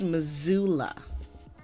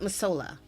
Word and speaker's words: Missoula: It's pronounced Missoula. It's not Missoula. Missoula.